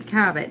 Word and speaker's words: Cabot: Cabot is the name of it, and it's strongly sharp cheddar cheese.